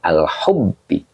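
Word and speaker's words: الحب: Nah, maka ini dibacanya al-hubbi. Kenapa dibaca hubbi? Karena hubbi ini membadalkan zalika.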